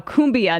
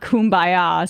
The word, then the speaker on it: cumbia: Cumbia, not kumbaya, says Penny from New Mexico.